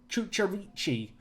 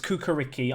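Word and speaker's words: Čukarički: and I know that some Serbians told me it's like Kucharici, I think is how it's said. No, it's Kukariki. I'm certain of that.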